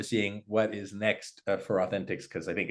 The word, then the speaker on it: Authenticx: It's Authenticx is spelled like the word authentic with an X at the end.